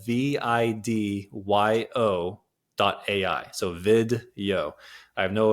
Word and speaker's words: Vidyo: It's called video.ai. It's an AI repurposing tool, and it's spelled VIDYO.ai.